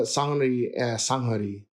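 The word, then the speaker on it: 산후조리: And well, I'm glad you got the sanghari is the pronunciation.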